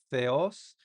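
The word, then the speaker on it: θεός: Theos. Entonces, se pronuncia como la th en inglés, eh, yos significa Dios en griego.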